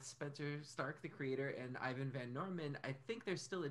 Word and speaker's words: Ivan Van Norman: Xander, he has done an Altered Carbon campaign where Ivan Van Normal, the one to blame for all your pain. I should say his name right. So yeah, the full title. Know, it's Ivan Van Norman.